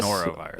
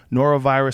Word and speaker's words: norovirus: Norovirus.